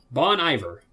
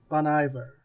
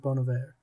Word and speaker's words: Bon Iver: know that he's in some way involved bon iver bon iver well i i pronounced bono bear you know it it is i believe i